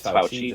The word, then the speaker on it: Fauci: he's a doctor, and he deals with ouchies, and it's Fauci, just if you need to know how to pronounce his name.